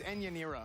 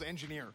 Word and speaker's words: Enyanira: It's Enyanira, my bad. I thought it was Engineer.